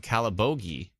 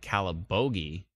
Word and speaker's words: Calabogie: should we be concerned in calabogi which I now know how to pronounce when the tornado went through the ef3 went through uh that area I kept calling it calibogi which may or may not be cooler than calibugi or scalabogi kalabugi calibogi anyways long story